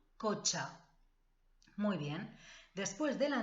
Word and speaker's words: cotxe: Este sonido, che, el coche, C-H, en catalán se escribe T-X, el cotxe.